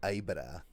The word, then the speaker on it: Aibara: So it's AIBARA.